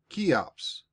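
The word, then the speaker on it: Cheops: His name was a very odd one, spelled C H E O Ps, and pronounced Kops.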